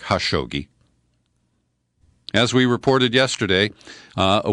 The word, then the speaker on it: Khashoggi: his name is Jamal Khashoggi I guess in Arabic that K is silent it's more like ha shogi as we reported yesterday